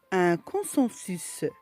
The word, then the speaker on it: consensus: Dans des cas particuliers, nous avons le S qui se prononce à la fin, comme un fils, un sens, un cactus, un consensus.